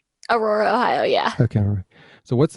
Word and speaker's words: Aurora: Did I pronounce that right? Aurora, Ohio, yeah.